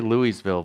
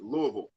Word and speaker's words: Louisville: the way i uh i say louiseville but i'm guessing the correct pronunciation is louisville technically it's louisville but like it's not